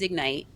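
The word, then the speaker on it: Egnyte: So, I highly recommen re recommend Ignite and it's spelled Eg Ny T.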